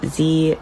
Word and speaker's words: zie: asking about my pronouns they are pronounced z zem zaire